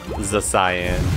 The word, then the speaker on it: Zacian: Because we take the speed control, and then Zacian can clean up. Za-cyan.